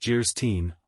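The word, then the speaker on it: Anne of Geierstein: it for sale and of guyin pronounced jeren or the maiden of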